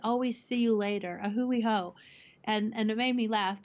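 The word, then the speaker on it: A hui hou: but is it away how it's closed it's a Hui ho a Hui ho okay and what is a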